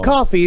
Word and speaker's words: Coffey: Yeah, John Coffey. It's like the drink, but it's not spelled the same.